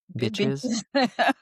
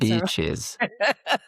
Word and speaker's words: beaches: Did I say it right, by the way? Bitches. Still a little sense of bitches, but that's beaches. beaches. B. Beaches. B. Beaches. Like a bee.